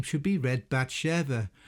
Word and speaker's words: Bathshua: In the case of Batsha it is my opinion that this name should be read Bva. The vav being pronounced as a V rather than a U.